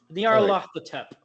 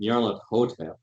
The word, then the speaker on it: Nyarlathotep: They have an extra pronunciation on the H. Like they severely pronounce the H.